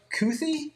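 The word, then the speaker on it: Kuithe: He is going to take uh there's a pronunciation. It's Brandt Brandt. Cuthy.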